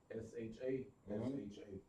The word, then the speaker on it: Shasha: How she spell that? S-H-A-S-H-A.